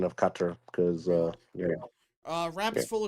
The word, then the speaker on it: Qatar: to geography now for teaching me the proper pronunciation of cutter because uh uh rap's full of [ __